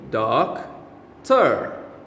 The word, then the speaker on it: doctor: should we go slowly doc tur doctor it's almost like an er sound at the end many people will say